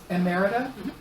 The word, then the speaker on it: emerita: Orenaug Mountain Publishing 10th Poetry Anthology, edited by Sandy Lee Carlson, managing partner and poet laureate emerita, that's the right way to say that, of Woodbury.